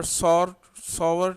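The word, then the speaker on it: sour: Number one, acids have सॉवर test, इसको हम सौर भी पढ़ते हैं आमतौर पे, लेकिन सावर इसका सही प्रोनाउंसिएशन है.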